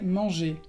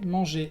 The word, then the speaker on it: mangé: Entonces, j'ai mangé. J'ai mangé. Se pronuncia igual.